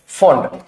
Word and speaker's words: fond: आप प्रोनाउंसिएशन इसका आप फाउंड नहीं करेंगे, इसका प्रोनाउंसिएशन फाउंड नहीं करेंगे, इसका प्रोनाउंसिएशन है फॉन्ड, फॉन्ड ऑफ, फॉन्ड ऑफ, फाउंड ऑफ नहीं है।